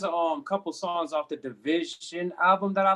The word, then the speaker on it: DVSN: But yeah, so Division had one. Division had an album in 2020 that I really like. DVSN is how they spell it, of the newer.